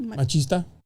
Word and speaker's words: machista: How do you say that? Machista. Machista. There we go.